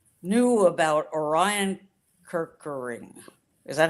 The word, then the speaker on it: Orion Kirkering: things, everybody, baseball fans or not, knew about Orion Kirkering, is that how you say it?